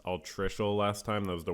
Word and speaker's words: altricial: I mispronounced altricial last time.